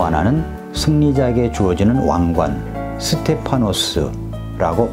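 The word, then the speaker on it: στέφανος: 하나는 왕이 쓰는 왕관, 또 하나는 승리자에게 주어지는 왕관, 스테파노스라고 발음되며 주로 승리의 화환이나 월계관을 의미합니다.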